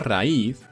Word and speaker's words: raíz: golpe de voz y como decimos raíz y le ponemos toda la fuerza en una vocal cerrada que sería una vocal débil como recibe la fuerza de voz se convierte en fuerte y al convertirse en fuerte se separan y sería ra y vale